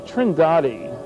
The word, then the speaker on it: Trindade: And here's a sequence from Trindade, I'm told it's pronounced, 600 miles east of the coast of Brazil.